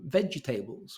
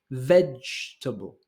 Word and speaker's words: vegetable: end up with some vegetables which we don't have in English this is three syllables all the emphasis is in the first one so it's vegetable vegetable so this is a